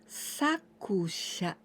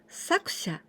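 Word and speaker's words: 作者: And here we pronounce saku, sakusha, sakusha.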